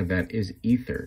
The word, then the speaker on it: Aether: pronunciation of that is ether not aether that ae character makes a hard e sound like egypt so just a tip